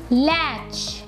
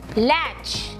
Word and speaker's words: latch: So here is ch sound. Latch. T is silent here. In my previous class, I told you about the T. T is silent. Okay. So T is silent here. Latch.